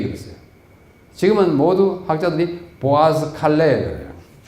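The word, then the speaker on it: Boğazkale: 여러분 발음이 좀 이상하지요 Bo O 다음에 g 있잖아요 g지 이스 보통 영어 같으면 어떻게어요 보가스 이렇게 야 되잖아요 이거는 영어가 아니고 터키 말이에요 터키 말 위에 g 위에다가 주를 꺼 놓으면은 이형 발음 보가스 보스 보칼레 틀린 것이 아니고 터키 음으로 그렇게 하는 거예 그래서이 보아스 칼레에서 엄청난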